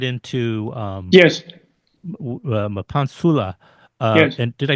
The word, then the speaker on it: Mapantsula: So before we get right into yes, Mapantsula, yes, and did I pronounce it right? Mapantsula? Mapantsula.